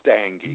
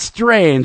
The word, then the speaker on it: Stange: It's Stange. There it is. Not Strange.